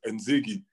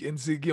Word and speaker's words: Nzege: Ah, Et mon nom de famille, tu vois, Nzege en français, ah. Nzege, eux, ils le prononcent Nzegi.